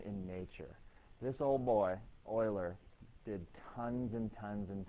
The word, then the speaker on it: Euler: Euler and john napier euler i know it looks weird but it's pronounced euler he's the guy that's